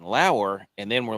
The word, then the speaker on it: Lower: And then turned out that was the wrong pronunciation. It's Lauer.